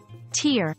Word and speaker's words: tear: tear with tear remember tear pronounced like care means to rip tear pronounced like hair